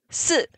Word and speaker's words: 四: It's pronounced as 四, which sounds very similar to 死, which means death.